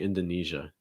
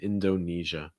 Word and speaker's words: Indonesia: indonesia it's not usually indonesia it's a lot of times indonesia our next one thailand